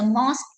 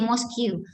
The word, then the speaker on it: mosque: mosque not moscu okay i know some of you know it's a mosque but i've heard some people who said mosquito we are muslim so